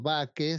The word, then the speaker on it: bake: que les había contado baque se escribe como Bakery miran con las panaderías